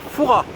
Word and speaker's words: Fouras: bien ici c'est pareil on vient à fouras vient s à la fin mais ils se prononcent pas voilà donc vous avez